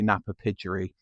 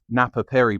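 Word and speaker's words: Napapijri: sellers of like vintage, and they still say Napa Pidgery. But you can sling it into Google, can't you? And I slung it into Google how to pronounce Napa Piri properly, and it told me how I'm pronouncing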